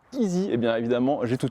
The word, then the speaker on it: i:SY: Petite confidence, cette marque il est longtemps appelée Iai, ce qui veut absolument rien dire. Et quand on m'a dit que ça prononcer easy, et bien évidemment j'ai tout de suite compris.